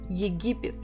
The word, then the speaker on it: Египет: Египет. Stressing the second syllable.